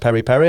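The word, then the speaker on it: peri-peri: per H it's spelled p Peri but it's pronounced Perry Perry I think to the point now where people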